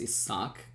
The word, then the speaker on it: Isaac: game between Isaac balislavsky the proper way to say his name is isak that was the Russian version is suck ballislavski um he was